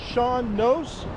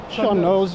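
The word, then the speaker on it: sean nós: um uh going to be working with a Sean nose is that how you say it the singer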